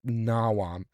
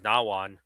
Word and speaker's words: Nawam: always thought it was, for the longest time, I thought it was Nawan. Yeah. But when I look at the spelling, it's Nawam with an M, not an N.